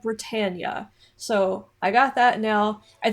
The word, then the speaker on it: Britannia: on Rule Britannia, and I unfortunately kept saying Rule Britannia back then because I didn't know the proper pronunciation, but a lot of you down in the comments got on to me about that and said that it is called Britannia.